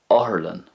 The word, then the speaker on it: otharlann: And in Ulster, you could still use Uspedale or Aspigal, but it's more common in Ulster to use the following word, Oherlin, Oherlin.